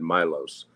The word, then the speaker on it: Milos: than me but um I asked his mother how do you pronounce your son's name she said Milos so let's go with Milos okay how is he